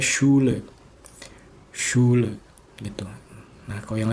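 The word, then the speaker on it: Schule: Jadi stay kayak ini sekolah ini dibacanya shule shule gitu.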